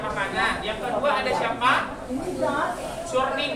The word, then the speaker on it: churning: Churning. Benar bacanya churning. Carning. Yang benar itu adalah carning.